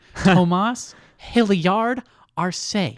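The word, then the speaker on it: Tomas Hilliard-Arce: Tomas Hilliard Arce. Yes. You Hyphenated last name. Yeah, you got to put emphasis on every syllable.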